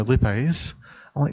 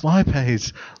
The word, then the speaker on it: lipase: chemistry hearing he hears oh you know lit maze-like no it's lipase I pay he tell